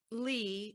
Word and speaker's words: Legh: And Lee is spelled Legh.